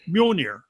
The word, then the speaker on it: Mjolnir: So Bean's like, well, it's pronounced Mjolnir.